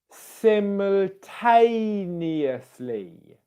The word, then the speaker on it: simultaneously: Now if I bring the whole word together with the right stress, it would be simultaneously, simultaneously, simultaneously, simultaneously, simultaneously, simultaneously, simultaneously, simultaneously.